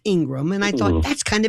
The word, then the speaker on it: Ingraham: Now, Laura, Ingraham is pronounced Ingram, and I thought that's kind of interesting.